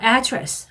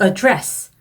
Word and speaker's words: address: 발음도 들어보셨을 것 같은데 명사, 주소라는 뜻으로 쓰일 때는요 address 라고 해주시고 무언가를 다루다, 언급하다, 어떤 일을 해결하다, 처리하다 이런 뜻으로 쓰이는 동사일 때는 address. 다시 한번 명사일 때는 address, 동사일 때는 address.